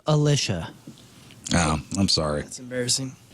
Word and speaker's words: Alicia: head too are forever Alicia class 53 years old that's your poral birthday those your crappy birthdays and that was your crap on celebrities it's it's pronounced Alisha oh I'm sorry that's